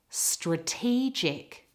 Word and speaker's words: strategic: Now for the next one, the word stress changes position. It's in the middle of the word. Have a listen. Strategic.